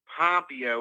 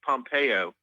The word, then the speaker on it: Pompeo: It's not Pompeo. It's Mike Pompeo. Okay. You know what I'm saying? Yes. I was putting the emphasis on the wrong syllable.